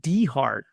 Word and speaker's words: Dehart: But he pronounces his name John De Hart. D as in a middle initial.